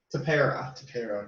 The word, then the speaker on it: Tepera: Ryan Tepera, okay.